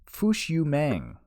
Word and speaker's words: Fush Yu Mang: to but uh this week we listened to fushu mang if I pronounce that right you you did by Smash